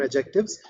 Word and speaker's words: adjective: And in the interim, just to give you the definition once again, adjective, the T here is silent, so we call them adjectives.